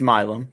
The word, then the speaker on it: Milam: I think it's Milam, by the way. I'm not the pronunciation guide, but I looked it up, and that's what I found.